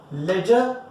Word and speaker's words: ledger: Ledger is a part of secondary book. Ledger का spelling होता है LEDGR, ठीक है, याद रखना. D again is silent type only.